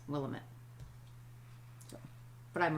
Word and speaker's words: Willamette: So Willamette is Willamette, and the way you remember it is, it's Willamette, damn it. It's Willamette, damn it. Right, not Willamette.